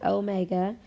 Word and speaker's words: omega: this symbol omega and we are going to pronounce it omega you might think of it as a w but w will represent a different variable in the future so please train yourself to call it omega this stands for angular